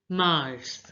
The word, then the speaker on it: mars: this word properly again March is pronounced as Mars Mars now listen to the